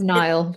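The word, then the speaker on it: Niall: then you have um is it Nile or is it Neil yeah it's Nile Nile this is where my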